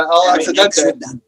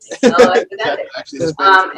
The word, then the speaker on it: El Accidente: It's Spanish, yeah. El Accidente. El Accidente.